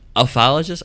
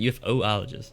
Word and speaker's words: ufologist: Is it ufologist or is it UFOologist? Or UFOlogist? Actually, hold on here. It's pronounced ufologist. Doesn't sound stupid.